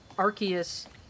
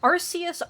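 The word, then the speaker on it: Arceus: It's people who pronounced um like Arus Archus. I think both those are fine. I personally prefer Arus. I don't people who pronounce it as Archus. Like I'm sorry, but you're just wrong. Nobody pronounces pronounces it as Archus. It's Arus.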